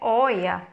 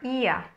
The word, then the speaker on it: Oia: Então, não é oia, é ia.